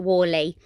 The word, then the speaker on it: Whalley: you ever come to a little town called wally which is in the river valley is it in the river valley yeah it's spelled w w h a double l e